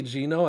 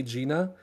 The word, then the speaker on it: Gino: But there's a Starbucks that I go to by my house that I say Gino and they say Gina.